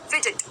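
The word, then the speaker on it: fidget: फिजिट, फिजिट, अब यहाँ पर डी जी जी ज की साउंड कर रहा है, ठीक है।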